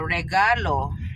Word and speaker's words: regalo: What is how do you say gift? Oh, regalo. Regalo, guys. Yeah, regalo. I can maybe remember that. Yeah, regalo. Regalo. Oh, you got to roll your R's too.